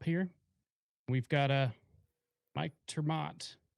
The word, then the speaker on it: ter Maat: i appreciate that uh mike termat you can pronounce it that way but most people throw